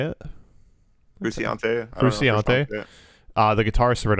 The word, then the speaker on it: Frusciante: But John Frusciante, is that how you say it? Frusciante.